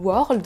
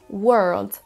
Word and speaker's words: world: World le mot World qu'on va souvent avoir envie de dire World parce qu'on voit un o mais attention ce n'est pas un son o qu'on va devoir prononcer c'est un son World preserve écoutons le premier